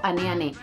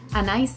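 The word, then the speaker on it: Anaïs Anaïs: y es el famoso aneane que hace poco me enteré que no se dice aneane se dice Anais a nice así se dice en francés Pero bueno acá se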